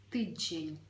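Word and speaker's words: tydzień: ми сеце вимовляємо і звертаємо увагу що всередині присутній м'який звук Ж тиджень Угу наступне слово з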